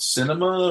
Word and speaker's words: Sinema: There's another one out there called Cinema, or it's spelled really weird.